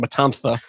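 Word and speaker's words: Matanza: There's a there's the kidnapped Lotus is being taken to uh Matan Matantha, if you're saying it the correct Spanish pronunciation. Matantha.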